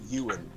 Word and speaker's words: Ewan: this i was wondering it's not england ewing it's ewan technically or you it's a weird pronunciation if you're watching we'd